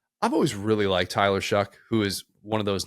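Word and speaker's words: Shough: I've always really liked Tyler Shuck, who is one of those names that doesn't look like it should sound like that. It looks like it should be pronounced show, but it's Shuck.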